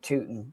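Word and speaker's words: Tuten: I just love that it's actually pronounced Tootin.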